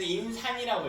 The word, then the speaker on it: 인산: 자 이건 그래서 임산이라고 읽어요. 이거 이건 약산이야.